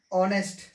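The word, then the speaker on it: honest: Clear है, एच के बाद में ओ आएगा तो एच हमारा क्या है, साइलेंट हो जाएगा। ठीक है, एच के बाद ओ होगा तो एच हमारा क्या होगा, वो साइलेंट हो जाएगा, यानी हम एच का उच्चारण नहीं करेंगे।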